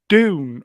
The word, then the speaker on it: Dune: Is it Dune or June? Well, my mother was named. My name was June, so June. I'll say June. So I pronounce it Dune. With a D.